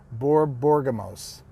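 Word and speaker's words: Borborygmos: I'd rather leave Barbergamos. How do you say his name? Borborgamos.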